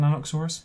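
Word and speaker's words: Nanuqsaurus: being chased by nanokusaurus are you pronouncing nanooksaurus yep yep an ice world where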